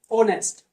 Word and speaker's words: honest: में आते हैं हमारी, तब क्या होता है? आवर, ऑनेस्ट। साउंड किसका आ रहा है?